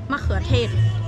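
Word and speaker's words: มะเขือเทศ: Makhuatet.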